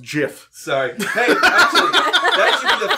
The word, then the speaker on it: Giff: Yankee today no Jesus it's pronounced Jiff sorry that should be